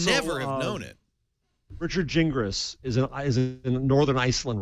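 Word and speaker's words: Gingrass: was another one yeah is it g i n g r a SS yes pronounced jingis Jing think he be consistent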